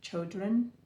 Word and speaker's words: Chodron: the teachings of, I think her name is pronounced Pema Chodron. It's Pema Chodron, Chodron.